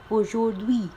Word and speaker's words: aujourd'hui: अब इधर भी आप देखो मैंने इसको H को प्रोनाउंस नहीं किया है, ओनली बाकी सारे वर्ड्स हमारे प्रोनाउंस हुए हैं aujourd'hui।